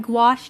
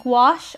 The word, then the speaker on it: gouache: there are some fantastic gouache artists here on youtube g-o-u-a-c-h-e it's not pronounced like it's spelled and i would recommend